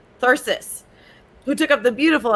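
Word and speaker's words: thyrsus: beautiful and blessed uh thyrus uh virus sorry no no i wanted to say it right thirsus who took up the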